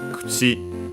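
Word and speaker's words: くち: So yeah, in this case, we'll stay kuchi. So with the u barely heard if at all because it's between unvoiced consonants. And yeah, the accent is on the chi. Oh, sorry, is actually unaccented on its own.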